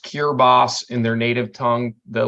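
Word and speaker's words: Kiritimati: three and a half hours uh to It's pronounced cure boss in their native tongue the language there is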